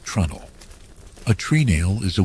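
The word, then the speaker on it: treenail: You might spell it as t r e e n a i l, but shipwrites pronounce it like trundle.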